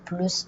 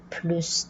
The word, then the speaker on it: plus: la locution plus de, dans la comparaison, on prononce le S, donc plus de. Mais là, dans le cas des chiffres, donc si plus de est suivi d'un chiffre, on ne va pas prononcer le S.